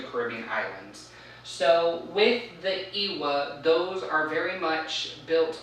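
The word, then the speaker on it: Lwa: These deities in Haitian Voodoo are called Iwa. They're L-W-A. The L is pronounced as kind of like an E-Y, an I.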